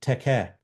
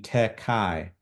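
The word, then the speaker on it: τε καί: And so there is kind of a nice you can hear it in the Greek, teke. And this is why Erasmian pronunciation is problematic. It would be tekai, tekai. But in fact, the te and ke have a nice rhyming.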